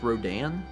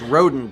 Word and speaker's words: Rodin: philly museum of art that's pronounced rodin that's what i thought it was in college okay maybe that's how my professor pronounced it okay it says rodent to me but i guess rodin well it's french oh well then i